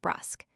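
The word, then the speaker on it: brusque: The English given/o/ sound to the u of brusk. In America the word commonly rhymes with tusk.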